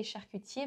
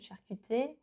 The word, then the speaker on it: charcutier: He doesn't really say charcutier, but charcuter. That's how we know that, yeah, he's not French.